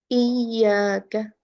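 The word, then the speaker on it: إِيَّاكَ: Softness is different. The number, you just have to just raise your voice a bit. Iyaka, iyaka.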